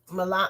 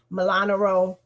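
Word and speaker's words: Molinaro: The first race is Pat Ryan versus Mark Milan. I keep getting this man's name wrong. Milanaro, to finish Antonio Delgado's term in Congress.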